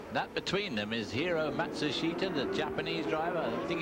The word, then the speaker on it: Matsushita: But it's 4 syllables as far as he's concerned, and 3 syllables as far as the family and the sponsors concerned.